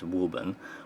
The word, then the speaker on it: Wuben: flashlight now of course being English I'm going to pronounce this as wubben whereas in some other countries they might have a different pronunciation and probably one which is more accurate but here in America